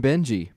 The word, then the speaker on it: Benji: I think he said with a hard G or soft G. He had both ways. So that Benji, would be soft, so we'll just keep calling him Benji.